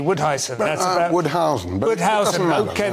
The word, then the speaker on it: Woudhuysen: Have I pronounced your surname correctly? Woudhuysen.